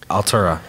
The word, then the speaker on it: ALTVRA: i'll Torico i'll tarik oh yeah that's spelled al g v ra ya altura yeah i just want